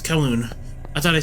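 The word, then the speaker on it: Kowloon: I keep calling it Koolon. I probably might I'm probably still going to accidentally call it Koulan, but well, it is Koon. Yes, it's Koon.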